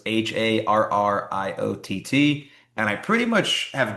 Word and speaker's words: Harriott: So my last name is spelled Harriott, but it's pronounced like a Marriott. So it's Harriott.